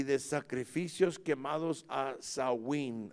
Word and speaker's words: Samhain: Samhain se mira, compuesto como Samhain, aleluya, pero se está producido, está pronunciado Samhain, que era el mismo Satanás, amen, el dios de la muerte.